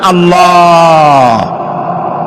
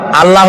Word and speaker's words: আল্লাহ: আল্লাহর নাম আল্লাহ। বলেন তো আল্লাহ নয় কিন্তু আল্লাহ হচ্ছে অশুদ্ধ।